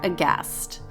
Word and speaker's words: aghast: Instagram at cast underscore aghast remember there's a silent h